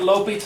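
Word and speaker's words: L'Hôpital: and that's okay too I was raised calling it lital you are going to be raised calling it Lal what's it called L say it like your French Lal l l there you go lal's rule is this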